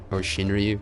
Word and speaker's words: Shinryu: Shinryu is, or Shinryu, if you will.